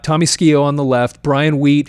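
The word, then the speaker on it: Tommy Skeoch: You've got Tommy Skio. And it's interesting that is how you pronounce his name. Believe it or not, Tommy Skio on the left.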